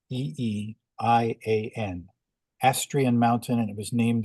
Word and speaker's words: Astrian: correctly it's a s t r i aan asrian mountain and it was named after his granddaughter